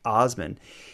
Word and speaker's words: Assman: his name but it's it's spelled asman pronounced Osman he was a Canadian